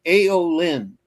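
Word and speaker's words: Aelyn: It's aolin which is spelled AE L YN.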